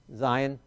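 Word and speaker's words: זין: the Zion Zion uh looks very similar to the vov but it's a little bit more zigzaggy all right so zigzag maybe that'll help you remember the difference and notice the difference and that makes the z sound Zion and uh so let's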